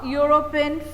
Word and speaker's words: European: similarly the third one a european french even though the letter is e e has a consonant sound in this word and so we write